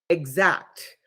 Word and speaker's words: Xact: one that I use is Exact, and it's spelled XACT, Exact.